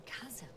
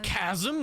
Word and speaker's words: chasm: algorithm goes over a chasm I can repeat the command it's Chasm not Chasm my whole life unfortunately I've been saying it wrong model such mistakes are